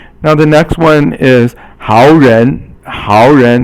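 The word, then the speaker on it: 好人: Now the next one is 好人. 好 is 三声, and 人 is second tone.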